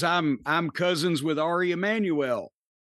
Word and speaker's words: Emanuel: Well, that's cuz I'm I'm cousins with Ari Emanuel. You're the only person I've ever heard pronounce it that way.